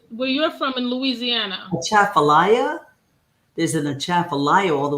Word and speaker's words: Atchafalaya: Atchafalaya.